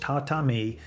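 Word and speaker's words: 畳: This one has two parts, the tatami and the igusa, pronounced tatami and egusa.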